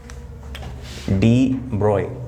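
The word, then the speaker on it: de Broglie: डी ब्रोगली लिखा हुआ है, पर मैंने तुम्हें बताया था ये स्टाइलिश आदमी है, जैसे इसका नाम दिखता है वैसा प्रोनाउंसिएशन नहीं है इसका, पर बुरा मानता नहीं है क्योंकि ये है नहीं। तो 99% ऑफ जनता गलत बोलती है इसको। डी ब्रोय, बाकी ऐसी कोई बड़ी अचीवमेंट नहीं है।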